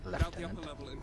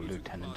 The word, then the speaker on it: lieutenant: Any of you who are confused, that is in fact the correct way to say lieutenant, or lieutenant as you would call it in some parts of the world.